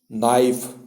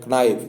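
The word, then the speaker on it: knife: word आते हैं ना, जैसे आप पढ़ते हैं नाइफ, तो उसको बहुत लोग पढ़ते हैं कनाइफ, जैसे बोलते हैं ना,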